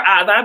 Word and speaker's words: Ada: Yeah, so I prefer Ada because literally that is how my mother named me. Ada. Right. You know, the Spanish pronunciation.